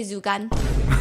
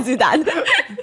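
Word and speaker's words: 朱丹: start saying, it's okay, Zugan. So they're getting her name wrong, okay, because her name is Zudan.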